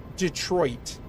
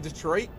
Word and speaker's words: Detroit: People don't pronounce the second T in Detroit. What's wrong with you? No, we say like Detroit. Like that's a very Michigan thing. We don't say Detroit, we say Detroit.